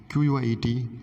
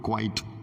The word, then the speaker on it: quiet: Q-U-I-E-T, the pronunciation of this word is quiet, not quite, quiet.